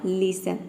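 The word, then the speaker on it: listen: एन आ रहा है फिर आप ये समझे कि एस टी ई एन को हम शल सन प्रोनाउंस करेंगे यहां पे स होगा सन पूरा हो जाएगा लिसन लिसन का मतलब होता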